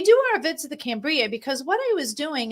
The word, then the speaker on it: Cambria: It's Cambria. Cambria.